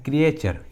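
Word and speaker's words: creature: तो जब भी किसी इंग्लिश वर्ड्स में टी के बाद यू आर ई आता है तो टी का उच्चारण च होता है, ठीक है, टी को च पढ़ते हैं।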